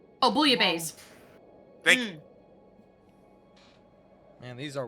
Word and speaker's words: bouillabaisse: pronounce the word. Bouillon, Buillion. Not bouillon. Bouillabisse. Oh, bouillabaisse.